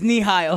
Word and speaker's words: Nihill: What's up, Rodrigo Torres, Nile, right? Is that how you say it? No, well, yeah, Mexicans pronounce it differently though, so I don't know. Nihao or It's Nihil.